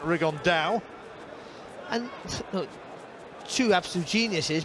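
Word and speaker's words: Rigondeaux: about three weeks and he's talked about fighting rig on though or as he's correctly pronounced with the uh spanish accent rig on dao and look two absolute geniuses but it could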